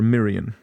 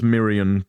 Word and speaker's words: Mirion: Yes, they are feminine and their real angel name is Mirion or Mirian specifically pronounced Mirion because otherwise it sounds a bit too make it sound more feminine.